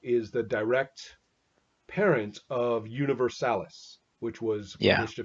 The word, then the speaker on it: Universalis: So So that's then, yeah, the pronunciation is very funny because yeah. some people pronounce it Universe Alice like it was a girl, you know.